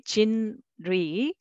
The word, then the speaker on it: 진리: The first one is syllable by syllable, 진리, okay, 진리, but it's very uncomfortable for Korean people, and they say they pronounce 진리, 진리, 진리.